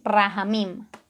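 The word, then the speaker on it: רחמים: esta característica es que es rafa mina sí rahamin como se escribe r h m m raja min esto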